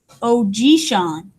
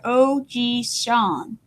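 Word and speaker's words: おじいさん: In Japanese, a grandfather may be called Ojishan. You can see I have this phonetic pronouncing. I don't know how to say that word, so I look at the phonics over here. Ojishan.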